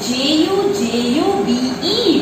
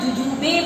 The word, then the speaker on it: jujube: It is Jujube, but when we pronounce, we say it as juju. It is not called jujube, but it is juju.